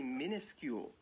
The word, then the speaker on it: minuscule: you know when we when we pronounce this word we say minuscule minuscule so you'd think it would be an eye minuscule or at least